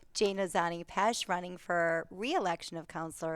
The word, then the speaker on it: Jana Zanni Pesce: I will just say since my I will I will correctly pronunciate my name. Jane Ozani Pesh running for reelection of counselor at large.